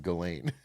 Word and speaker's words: Ghislaine: Well, the challenge is is that Gazlain Maxwell has every reason to lie. She, after all, is Why does he keep changing his pronunciation of Galain?